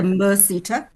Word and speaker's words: MERSETA: automotive falls under the, I may not be pronouncing it correctly, Mercita. but the MERSETA.